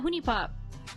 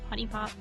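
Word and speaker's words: HuniePop: e uh hone honey I think it's pronounced Honey Honey Pop but people say hone pop just because of the way it's uh spelled yeah that one's a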